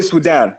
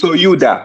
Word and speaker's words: Sudan: The proper way to pronounce Sudan because we we all say Sudan, but the proper way to pronounce it is souda.